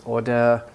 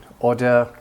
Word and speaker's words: order: says Oh duh so the R is not pronounced as strongly generally in British English and then in this